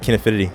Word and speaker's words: Kinefinity: I'm pronouncing it right, Kinefinity.